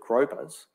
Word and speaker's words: groper: Australians, for some reason, call grouper gropers. and no matter how hard I try, because they spell it G-R-O-P-E-R, and I keep on saying, well, groupers don't grope.